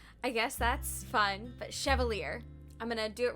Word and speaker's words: Chevalier: Chevalier. I've been pronouncing it Chevalier for some reason, so I guess that's fun. But Chevalier.